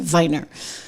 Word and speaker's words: Weiner: I'm like that's not how you say his name. It's Viner. He there's no way it's Anthony Weiner. Okay. like trust me there's no I'm not saying wier on the air like it's Anthony Viner and he's like no